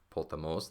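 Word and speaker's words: ποταμός: So here you just have a short syllable, os, and this accent, potamos, the accent is on the last syllable, the ultima.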